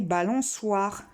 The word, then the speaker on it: balançoire: Pareil, balançoire. C-O, ça fait co. C-O-I, quoi. Si on veut faire soit, il faut mettre la cédille.